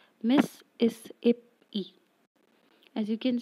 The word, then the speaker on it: Mississippi: You can pronounce the word, and you will clearly see that it has four syllables. Miss-is-ip-e.